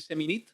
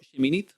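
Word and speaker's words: Seminit: primera vez que leen semin o mejor pronunciado shimin Nunca lo han leído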